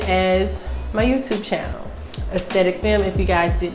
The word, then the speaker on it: Aesthetic Femme: That's Aesthetic Femme, and that's Aesthetic Femme, the same name as my YouTube channel. Aesthetic Femme, if you guys did not know or didn't know how to pronounce it, child.